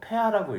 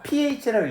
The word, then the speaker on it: pH: 산성도를 나타내는 단위 이거 폐하라고 읽죠. 폐하. 그쵸? 근데 이제 산성도를 폐하라고 읽는 건 독일식 그거고요. 원래는 이제 일반적으로 표준적으로는 pH라고 읽으시면 됩니다, 여러분.